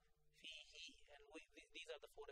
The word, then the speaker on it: فيه: with vertical kasra and it should be pronounced like there is a ya fihi and these are the